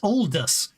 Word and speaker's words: Aldous: You see, look, I mean, your pronunciation, I can understand now. It's Aldous, which makes perfect sense. But I couldn't work out how that allocated to the way it was spelled.